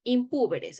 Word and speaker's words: impúberes: de demencia los impúberes sí se pronuncia Así impúberes es una palabra esdrújula sí impúberes son es